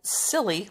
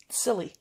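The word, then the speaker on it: Tsilly: a giant sea dragon called silly but that's spelled t-s-i-l-l-y silly what oh man i'm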